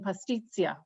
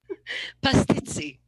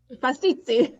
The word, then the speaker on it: pastizzi: If people go to Malta, they can try making pastizia. Did I say that right, Michelle? I said it wrong. Pastizzi. Pastizzi. Nearly.